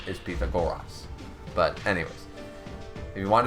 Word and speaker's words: Pythagoras: is actually pronounced Pythagoras because the way that the letters were pronounced back in those days are different than the way we pronounce them today his name is Peter goras but anyways if you